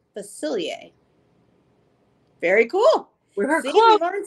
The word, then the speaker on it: Facilier: a feathery print three it's pronounced facilier facilier very cool remember you